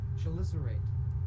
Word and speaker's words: chelicerate: The word you are watching sounds like chelicerate. Chelicerate. Chelicerate. Okay, so it's pronounced chelicerate.